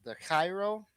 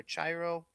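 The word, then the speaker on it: Chi Rho: We have the Cairo, as you would say, or Chiro. People pronounce it all sorts of different ways.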